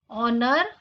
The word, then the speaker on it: honor: Honor, honest. Both these words begin with the phonic sound O, A vowel sound. Hence we say an honest man. It's an honor because H is silent in these words.